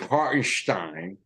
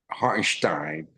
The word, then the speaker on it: Hartenstein: You gotta give Hartenstein, which is the proper way to say it. Hartenstein.